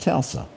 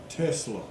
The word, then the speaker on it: Tesla: One of the things that is going on nationwide is this retaliation against Tulsa. Did Did I say it right today? Tesla. Tesla with tea.